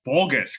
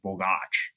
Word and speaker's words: Bogacs: do they say well we say borgus because it's easier but the actual sort of correct pronunciation is Bach well what does your